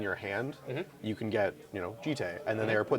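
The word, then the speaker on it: Jitte: Jite. That is how I've pronounced it for years and how I will continue to pronounce it.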